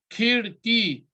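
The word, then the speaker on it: کھڑکی: Khirki.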